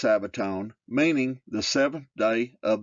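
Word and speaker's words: σάββατον: for Sabbath is Greek Strong's number 4521 Sabaton pronounced Sabaton meaning the seventh day of the week who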